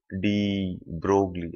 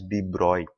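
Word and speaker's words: de Broglie: of this French physicist D brogley I wrote it as brogley right actually you spell it as d broy this is how you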